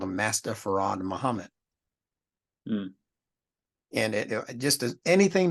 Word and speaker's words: Fard: They called him Farad. If I were to ask you to spell that and you didn't know how they spell it, you probably say F-A-R-A-D or F-A-R-R-A-D, Farad, you know, right? But he spelled it F-A-R-D, Fard. Now, why would he spell it Fard and then tell us to pronounce it as Farad?